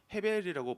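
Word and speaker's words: הבל: 이름의 뜻이 무엇인줄 아시나요 히브리어로 음하 어 헤벨이라고 해요 원래 헤벨이라고 발음을 하는데 그 말 우리가 많이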